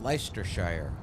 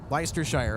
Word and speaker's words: Leicestershire: I think that's pronounced Leicestershire. Leicestershire, okay, yeah.